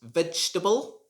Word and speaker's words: vegetable: word should be pronounced vegetable vegetable again there's a silent letter here there's a silent vowel in this word so you should not pronounce it vegetable the second e is silent so you should just